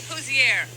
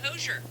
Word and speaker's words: Hozier: it fun since it's Once and for all, pronounce your name. No. All right, that's bad. Say hello. Is that him? Here. Andrew Hozier. They all keep saying it. His But name, maybe you say Hozier.